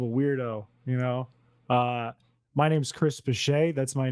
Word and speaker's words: Piché: We're joined by Piché. That's correct. That's how you pronounce that, Piché? Piché, yeah.